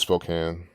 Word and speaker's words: Spokane: Well, I guess it is Spokane.